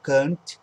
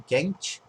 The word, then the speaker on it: Kant: um filósofo alemão a É por isso a gente pronuncia Emanuel Khan e não quente Ah é o alemão